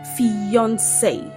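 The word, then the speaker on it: fiancée: Did you know that these two words are actually pronounced the same way? Yes. These words are homophones. They have the same pronunciation. However, they have different spellings and different meaning. One is used for male while the other is used for female. So, we have fiance. They're pronounced as fiance. This word is pronounced as fiance. And this word is also pronounced as fiance.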